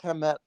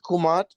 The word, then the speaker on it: Kemet: Afrocentrics love saying Kemet, but we've always pronounced it Kumat. Because we didn't have vowels.